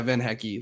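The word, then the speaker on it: van Hecke: Like it's one of those like players pronounce their names, and he's like, "Yeah, Van Hecky."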